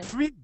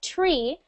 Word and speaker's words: three: Yeah, we want that TH. We don't want it to sound like tree, because tree is like something you see outside, a tree with leaves. Oh, yeah. Okay? We want to hear three. Three. Free. Not free. Okay, we don't want free. This means no money. That it costs no money. We want three. Three. So put your tongue between your lips, or your teeth.